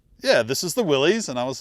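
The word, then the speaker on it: Willys: videos I was like say it either way you want yep or just slur it a little bit oh the Willies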